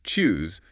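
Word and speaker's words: tschüss: And then to wrap up a conversation, you've got chus, which means by pronounced choose, kind of like juice, but with the t sound at the start.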